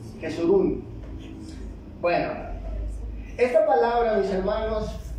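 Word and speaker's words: Jesurún: jerus jes Cómo jes jesurum Bueno sí la pronuncié mal Cómo dice jesurum jesurun Bueno esta palabra mis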